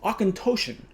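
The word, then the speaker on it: Auchentoshan: up online it's an awkin i should be pronouncing my better but it's an ocontoshan alohan malt from clydesbank just west of glasgow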